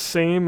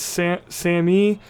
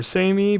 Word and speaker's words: SAME: Now, somebody from the UK said it's not pronounced same. I don't know if it's Sammy or Samey, but it's got the E sound at the end.